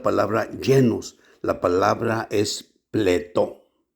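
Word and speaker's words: πλήθω: De nuevo, esta palabra llenos, la palabra es pletó.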